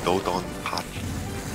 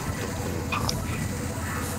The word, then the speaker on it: DoDonPachi: Fun fact, most people say Dodonpachi, but the announcer says it Dodonpachi.